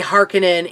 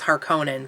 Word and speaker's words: Harkonnen: right now and so they say harkonnen in that book and but then in the movies that was her Conan so let's let's see